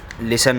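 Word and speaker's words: listen: तो नीड के लिए आपको पहले बता दूं, इसमें जो लिसन है, जैसे लिसन शब्द होता है तो उसमें टी साइलेंट होता है, तो हम कुछ सिंपल लिखेंगे, टी को हटा के बस LISEN लिसन लिखेंगे।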